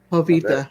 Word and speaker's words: Jovita: You got to pronounce the J like an H, Lance. Avita. Hi, Albadio. Fantasy League. Eddie and I are playing again next week. Oh boy, Javita Oh. Jovita, yeah, Jovita, yeah.